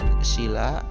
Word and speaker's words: sila: Panca artinya 5 dan sila dengan huruf I yang dibaca pendek mempunyai arti sendi, dasar, alas atau asas. Sedangkan sila dengan pengucapan I panjang, sila berarti peraturan tingkah laku yang baik, utama atau yang penting.